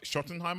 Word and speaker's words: Schottenheimer: Right, I can't pronounce it. Brian Schottenheimer. Is it Schottenheimer? Right, you say close. Schottenheimer.